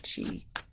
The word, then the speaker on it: qi: Because you can pronounce QI in so many ways, and I just love I debated on it, but I really just like the whole everything around using it and pronouncing it as key instead of chi.